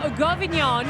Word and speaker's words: Govignon: This is Rachel Govignon, is how I say her name.